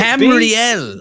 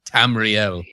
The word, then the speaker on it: Tamriel: that kind of start he's right mispronouncing Tamriel Tamriel Helen mispronounces a lot